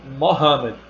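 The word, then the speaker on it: Muhammad: dizer o nome e a maioria dos homens começam com mohamed e é a pronúncia correta da palavra maomé é bom ele era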